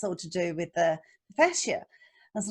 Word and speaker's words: fascia: I had never really thought about it as far as the fascia, is that how you say it?